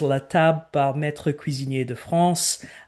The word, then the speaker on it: La Table par Maître Cuisinier de France: the only one in the company that can pronounce this correctly other than our French chefs, is La Table par Maître Cuisinier de France.